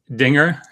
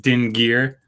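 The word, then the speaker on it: dingir: got t-shirts that say it's pronounced dinger on the front which means God or deity or something and then on the back it says not din gear which is or it's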